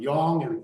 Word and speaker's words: yang: sound like you know what you're talking about Yong the yangong is masculine Yin Yin yiny now